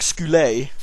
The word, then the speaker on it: Skulls: been saying it wrong it's not skulls it's like skoa just uh why do people get it wrong it's the valley of skoa not skulls skulls makes it sound